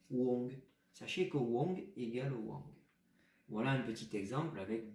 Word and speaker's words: Wang: Dans notre pinyin que je vais vous apprendre, ça s'écrit W-A-N-G avec un ton chinois. On va bientôt voir les tons. Donc ça se prononce Wang et ça s'écrit W-A-N-G.